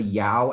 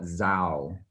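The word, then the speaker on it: Dao: For example, you have the Yao ethnic group, which is spelled D-A-O. Mm-hmm. In the South, you call it Yao. In the North, sometimes people call it Zhao.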